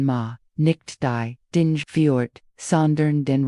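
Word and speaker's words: 間: Die Wahrheit ist das in Japan, das kulturelle Konzept ma, ausgesprochen ma, nicht die, dinj fjord,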